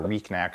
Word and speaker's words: Recnac: Riordan for 15 years, the Recnac, which is cancer spelled backwards. Do you say Recnac or Recnac? How do you pronounce it? Recnac.